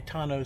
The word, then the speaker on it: tonneau: fine this right here i've heard it called tuno tano tano i think tono is that the t-rex the teacher in me wants to pronounce it okay tonno sport honestly the reason